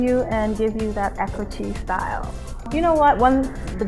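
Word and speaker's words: Eccoci: Well, Ecochi is spelled, Ecochi, I always spell it, it's E-C-C-O-C-I.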